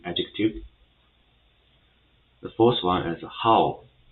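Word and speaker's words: 好: So first of all, the correct tongue of how is the third one. So it's a falling and rising tongue. So it will be pronounced as a how for example.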